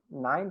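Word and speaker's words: nein: E aí ela está dizendo nine, esse EI aqui, igual eu falei, tem o som de I, nine, com certeza vocês ouviram já, né, que é não em alemão.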